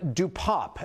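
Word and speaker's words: DePape: His family says David Dupop, as they pronounce it, was born in Canada and came to the United States 2 decades ago.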